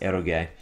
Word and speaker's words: eroge: It's pronounced erogay and it means erotic game.